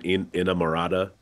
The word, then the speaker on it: inamorata: Please, I think this is the pronunciation, Inamorata.